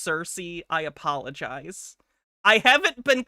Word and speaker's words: Circe: Circe, it's pronounced Circe.